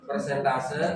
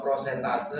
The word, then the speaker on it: persentase: Persentase atau prosentase atau presentase? Persentase. Yang betul ini ya, persentase. Persentase. Salah. Ruang. Apalagi presentase. Ya betul. Karena persentase itu terjemahan dari percentage, bahasa Inggrisnya percentage.